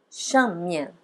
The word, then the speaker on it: 上面: 上面. Veja que 上 também é quarto tom, é tom forte. 上面. Aí no mian a gente dá uma aliviada na hora de pronunciar.